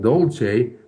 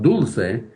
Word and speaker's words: Dulce: in Spanish ah okay and so actually the pronunciation is not Dolce but dul which sweet dul actually in California there's a